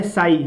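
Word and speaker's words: psi: इसको बोला जाता है साई, जहाँ पे पी जो है साइलेंट होता है तो इसको साई बोला जाता है।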